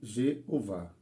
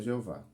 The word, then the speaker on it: Jeová: o h mas só lembre-se o o h em português é mudo então fica I Jeová Jeová então está claro que